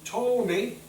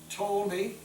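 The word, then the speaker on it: Ptolemy: uh a horn named told me the p is silent told me which would be in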